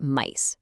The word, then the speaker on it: Mise: We're looking at Meese, pronounced Meese, which is a seriously impressive AI native inventory management MVP developed by student engineers at UMGC.